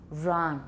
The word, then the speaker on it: Ron: Not r, no r, no friction. That's from Chinese. I had a student who pronounced all her initial R's as r, ron, rung. We don't have friction in English.